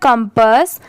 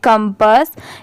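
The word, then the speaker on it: compass: डी ओल्ड यह है कंपस सी ओ एम पी A double S इसे हम पढ़ेंगे कंपस यहां पर इसकी प्रोनंसिएशन कंपास नहीं होगा इसे हम क्या प्रोनाउंस करेंगे कंपस एस एच ई शी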